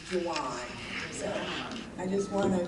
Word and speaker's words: Gian: And just for everyone out here looking at me, when you say Gian, my correct pronunciation is Juwan.